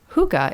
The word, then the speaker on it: hygge: i ask please how do you spell hygge hookah is actually spelled h-y-g-g-e i think they're wrong i don't think that's how it's spelt this is why this is why i